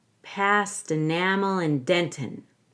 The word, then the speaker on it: dentin: Past enamel and dentin. Past enamel and dentin. Dentin could be a clear T or no T. Dentin, like a held T. Either way.